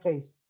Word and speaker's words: cache: Ya, apa itu misalnya di dalam komputer istilahnya ada tulisan cache, tahu ya cache ya? Case, dibacanya case.